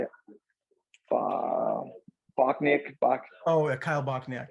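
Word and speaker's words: Bochniak: the same how do you say it uh bocknick bach oh a kyle bockneck yeah kyle bockham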